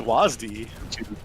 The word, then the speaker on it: WSAD: completely inadept at navigating with wsad which sounds like a very low-key radio station it's pronounced wasde i've heard him pronounce